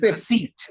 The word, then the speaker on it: receipt: this word receipt yes it is receipt receipt receip very often the common user of English pronounces that P letter P but we should remember